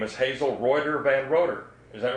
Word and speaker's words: Von Roeder: your name is Hazel Von Roeder. Is that right? It's pronounced Von Roeder. Von Roeder. She's always gotten it wrong, but I never corrected her. It's V-O-N and then capital R-O-E-D-E-R.